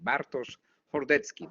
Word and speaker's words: Bartosz Hordecki: Bartosz Hordecki. This is correct pronunciation in Polish, okay?